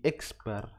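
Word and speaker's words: X̄: Nah, distribusi penarikan sampel dari X bar. Jadi ini bacanya X bar ya. X ada garis di atasnya dibaca X bar.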